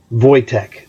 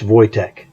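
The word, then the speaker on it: Wojtek: haven't bought her bought voytech that's how you pronounce his name he is a Polish circus bear famous in Poland that's vojtek so these guys the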